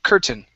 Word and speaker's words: curtain: to the word curtain instead of it's ker curtain curtain very good and we